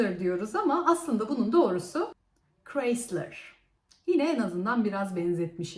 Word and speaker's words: Chrysler: biz buna kısmı ölüyoruz ama aslında bunun doğruyoruz Chrysler yine En azından biraz benzetmiş iz sıradaki marka